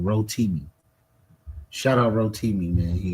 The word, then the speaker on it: Rotimi: I was I was Hoimi. Yes, I was the Hoimi. Yes, sir. And I think I pronounced his name wrong. Rotimi.